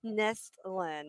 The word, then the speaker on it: Nestlin: Did I say Nelson right? No. Say it. Say it. Nestlin.